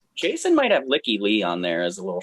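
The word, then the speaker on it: Lykke Li: Jason might have Licky Lee on there as a little shocker. Is that how you pronounce it? I said it's Lakely. It's Leaky Lee.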